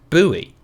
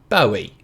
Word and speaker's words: Bowie: the name was pronounced bowie to rhyme with snowy or as in a bow tie thinking it must have